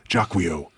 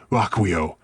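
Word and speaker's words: Jaquio: supposed to be pronounced Jacquu to, you know, fold in with a whole French pronunciation of his other name. Uh, but too late for that. The Jacquio.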